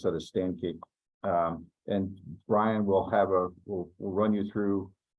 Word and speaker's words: Sankey: We did something called a Sankey chart. Sankey chart. Thank you. I don't know why I want to pronounce that as Sankey.